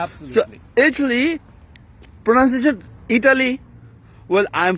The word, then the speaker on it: Italy: ইতালি, right? ইতালি, তাই না? Italy, yeah. আসলে কিন্তু ইতালি না, এখানে কিন্তু টিটা উচ্চারণ কেমন হবে, টর মতো হবে, এটা হবে ইটালি।